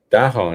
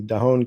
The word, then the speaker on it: Dahon: Dahon, is that pronounced right?